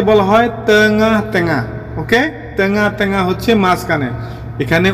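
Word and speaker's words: tengah-tengah: ওকে, তেঙা তেঙা হচ্ছে মাঝখানে। এখানে উচ্চারণটা অনেকে তেঙ্গা তেঙ্গা বলে, তেঙ্গা তেঙ্গা হবে না। শুদ্ধ করে বলতে হলে আপনি বলতে হবে তেঙা তেঙা।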